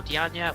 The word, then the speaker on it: Diagne: And then filling out the bench, we've gone with Falou Digne, or Diagne, which way you want to pronounce it, for Red.